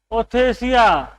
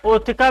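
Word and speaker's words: ootheca: उस capsule like structure को कह देंगे हम ओथेसिया। ठीक है, ओथिका भी करते हैं। ठीक, अब इंग्लिश का प्रोनाउंसिएशन कैसा भी हो सकता है, स्पेलिंग के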